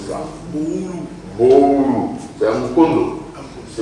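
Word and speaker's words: Boolou: Comment vous prononcez ça? Boulou.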